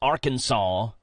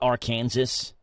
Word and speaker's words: Arkansas: software yeah number two it's illegal to mispronounce Arkansas in Arkansas you probably won't get arrested for calling it R Kansas but they won't be happy with not like you